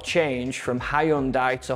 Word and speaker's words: Hyundai: simple manner however I will not change from Hyundai to Hundai it's Hyundai number two either in British English